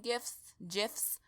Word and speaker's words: GIF: And you ghouls know that I love me my little skeleton gifs. Pardon my mispronunciation, it's GIF. Like the peanut butter.